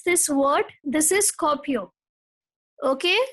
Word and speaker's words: Skopje: Now, how to pronounce this word? This is Skopje. Okay, Skopje, Albania.